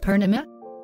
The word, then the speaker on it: Purnima: interject pernima enter jake pernima yes you are the first person in my life to pronounce my name correctly wow i am from